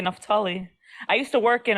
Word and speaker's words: Naphtali: used to call me. Yeah, that's how they say it, Naphtali.